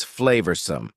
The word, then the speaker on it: flavorsome: Next, number 10 is flavorsome. Flavorsome means delicious and full of flavor. Notice the pronunciation. Two schwah sounds there.